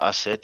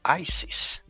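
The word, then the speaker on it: Aset: Now, asset is um the more accurate pronunciation of what people call ISIS. ISIS. It's more Greek, you know.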